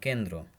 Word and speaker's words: কেন্দ্র: কিন্তু শব্দের মধ্যে বা শেষে যুক্ত বর্ণের ব্যঞ্জনের সঙ্গে র ফলা যুক্ত হলে দ্বিত্ব উচ্চারণ হয় না, যেমন কেন্দ্র।